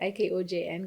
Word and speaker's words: IKOJN: Remember, IKOJN is IKOJN, guys, and the J is silent.